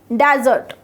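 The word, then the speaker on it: dessert: और जब इसमें डबल एस आ जाता है तो ये क्या हो जाता है, स्वीडिश हो जाती है, उसका प्रोनाउंसिएशन भी डिजर्ट होता है।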